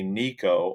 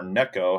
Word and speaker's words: Neko: is this looks like a nico or neko however you like to pronounce it worm i can easily